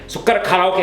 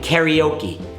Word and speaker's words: Karaoke: That brings me to Karaoke! I never knew about Karaoke back then... and as a side note... it is not pronounced "Karioki" lol "Kara-Oke" Japanese only has these 5 vowels...